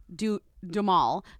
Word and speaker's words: Duhamel: Duhamel. What did I say? Lindsay, I will accept you mispronouncing any other word, but Duhamel, you gotta get right.